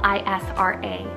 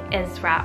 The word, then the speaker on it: Isra: Then we have Isra, spelled I-S-R-A, Isra or Isra.